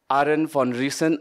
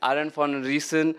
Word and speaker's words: Arend van Riessen: scientist and she's the founder of feather Library Aaron Von reason I think I pronounced your name right yeah Aaron for reason uh is a rural development specialist who came